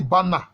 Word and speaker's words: Balma: et cloud bande am ça s'écrit balma mais ça se lit bana je vais en parler